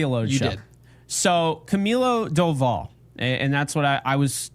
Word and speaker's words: Camilo Doval: So Camilo Doval, and that's what I was told that is the pronunciation.